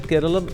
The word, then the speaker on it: Keralam: cultural references the suffix am or is part of the traditional pronunciation. So from a linguistic standpoint, it is argued that Keralum is the more authentic form rooted in Dravidian linguistic tradition, ancient political history and